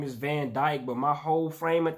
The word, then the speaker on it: van Dijk: video we got the one and only virgil van dick man i know his name is van dyke but my whole frame of thinking when i